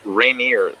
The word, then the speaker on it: Rainier: It's Rainier, as in like rainy. Yeah. That's how I explained it to him. No, it's Rainier.